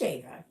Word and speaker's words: Eva: It's pronounced Ava, but it's spelled EVA.